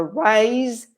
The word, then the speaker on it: rise: And then pronunciation, there's a slight difference with the sound of the S is, so rise and raise, it vibrates, this, which is a sound that we don't have in Spanish.